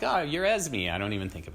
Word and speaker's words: Esme: as but now I'm like oh you're as me I don't even think of it that way